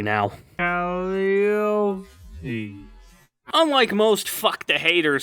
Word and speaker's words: Calliope: And yes, I can fucking pronounce Calliope correctly now. Calliope.